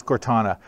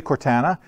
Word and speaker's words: Cortana: them Cortana skills anybody how do you guys pronounce Cortana is it Cortana or Cortana its Cortana I'm always told because I usually say Cortana and everybody says Canadian apparently we pronounce things